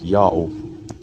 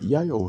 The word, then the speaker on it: Ιαω: without this vertical stroke the reader would immediately read it as dao so this whole word is really read as yahoo if this sentence letter yota then it was in that case but yayo has nothing to do with god's name and there is no other legitimate proof that his name is yayo god's name is pronounced yahoo according to the same